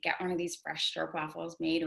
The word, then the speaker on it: stroopwafel: the only traditional, correct me if I'm wrong, stroopwafel experience in New York City. So, Yeah. I'd love to hear like about that. Sure. So it's pronounced stroopwafel, like stroop, like Okay.